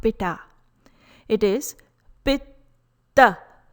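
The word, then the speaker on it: पित्त: Pronunciation is not Pitta. It is not Pitta. It is Pitta. Please note the pronunciation for letter T. It's soft dental sound T. Pitta.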